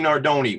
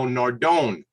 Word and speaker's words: Nardone: might change my wardrobe later on but nardoni which i appreciate you pronouncing it because i was going to go nardone so when you heard you say nordoni i